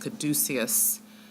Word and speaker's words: caduceus: This is called I think it's pronounced caduceus, which is a symbol of Hermeticism.